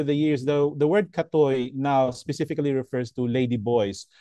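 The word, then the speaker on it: กะเทย: that they used was us was uh is pronounced as katoi atoi actually reflects more in terms of androgyny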